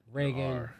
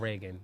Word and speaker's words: Ragin: Ragin, Ragin. Yep. Not like Ronald Reagan. It's not spelled like that Reagan. Nope, not that Reagan. Ragin.